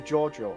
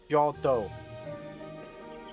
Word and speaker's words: Geordo: While we requested a loyal guard to relay a meeting requests to Giorgio, I barely contained my shock at Sophia's words.